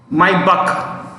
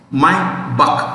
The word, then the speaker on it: Maybach: Mercedes, comma, my buck, MAY, I repeat, MAYBACH, my buck. How do you say that? My buck. You can say Maybach also, no harm.